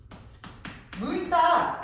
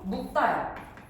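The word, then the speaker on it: 묽다: 물감이 참 물다 아니야. 물다라고 발음하면 안 돼. 얘도 마찬가지로 묵다야. 묶다. 물감이 묶다라고 발음을 해야 돼요.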